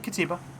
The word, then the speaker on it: Katiba: No, it's a Katiba. Cool. What is it called again? I always butcher the pronunciation. No, you're right, Katiba.